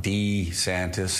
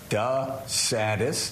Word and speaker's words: DeSantis: Santa's pronunciation the watch he called himself D santis his entire life and then the last year he call himself duh saddest it's kinda kinda strange